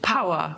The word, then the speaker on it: PWR: Da haben wir aber auch Meta und Power. PWR wird Power ausgesprochen, das ist für Kraft, Energie.